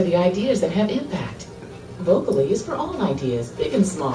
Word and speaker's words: Vocoli: We've seen pretty much every single version, Vocoli, Vocoli. It is vocal, so it is allowing your team to be vocal.